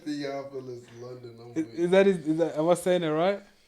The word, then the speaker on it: Theophilus: You know that nigga named Theopolis London? I'm weak. He said Theophilus, London.